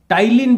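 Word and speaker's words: ptyalin: कहते हैं इसको पे टाइलिन भी कहते हैं देखो ये पी यहां पर साइलेंट रहता है इसका उच्चारण नहीं होता टाइलिन बोलते हैं इसको तो सलीब के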